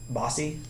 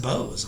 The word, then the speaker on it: Bose: Oh, did you ask him about Bossy speakers, by the way? No. Okay, we'll get to that story too. Pronounced Bose, aren't they?